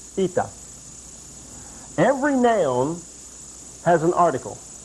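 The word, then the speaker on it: η: an ITA this is an article it is pronounced ITA every noun has an article there is an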